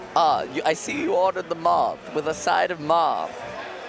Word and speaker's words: Marth: Like, Moth. It's not Marth, it's Moth. Moth, sorry.